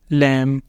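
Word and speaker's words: lamb: B comes after M जब एम के बाद बी आया करेगा ना उस वक्त इसने साइलेंट होना करना है जैसे पहला है हमारे पास लैम कॉम थम लिम क्लाइम यहां पर यह क्या है कि सबके अंदर क्या है लेटर बी साइलेंट क्योंकि वह आ रहा है एम के बाद एम के बाद आ रहा है तो लेटर बी होगा साइलेंट दूसरा है रूल हमारे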